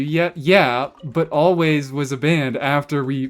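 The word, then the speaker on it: Alvvays: Actually, their name isn't actually pronounced all, right? It's just always, but it's two V's.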